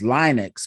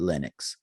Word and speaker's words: Linux: I've always been interested in it, and I think the correct pronunciation is Linux, but a lot of people do call it Linux.